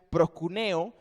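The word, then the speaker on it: προσκυνέω: la palabra arrodilló allí es la palabra en griego para que se pronuncia procuneo que lo que indica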